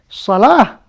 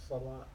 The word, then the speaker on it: صلاة: So you pronounce as a ta. Right? You got it? You say that's salat.